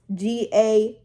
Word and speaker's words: Galinda: Because the goat used to say her name Glinda, Glinda, but her real name is Galinda.